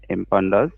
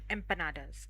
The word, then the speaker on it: empanadas: Empandas and rice beans and beans all the time. Empanadas.